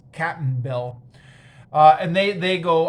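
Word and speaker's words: Cap'n Bill: cap and bill uh it's like captain bill but it's spelled with an apostrophe so it's captain bill uh and they they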